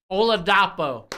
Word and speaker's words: Oladapo: been really good for the Beavers this year oladapo that's how you say his name GOI I